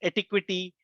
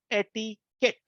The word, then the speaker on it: etiquette: you hear it as etiquity etiquette it should be said as ETI kit it's a it comes from a French origin uh which was in